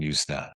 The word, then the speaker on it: Yuzna: that on the page and how do you pronounce this? Is it Yansna or Yusna? Brian Brian Yusna Yusna.